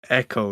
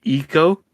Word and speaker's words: Ekko: I don't like it's Echo, right? EKKO, and people pronounce as Eco, and Yep.